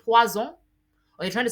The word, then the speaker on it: poison: When your S is in between and then two vowels sandwich that S, it gives you the Z sound. Examples are poison, loisir, chaise. But when your S is not in between two vowels, it's pronounced as S.